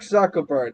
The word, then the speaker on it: Zuckerberg: I don't think like they they portrayed Mark Zuckerberg is that how you say his name yes Mark Zuckerberg the guy who can't blink um they portrayed